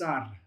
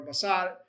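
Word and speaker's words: בָּשָׂר: So, if you see the English, it is not pronounced basar or basad, it's basar. Your accent's on the s, basad.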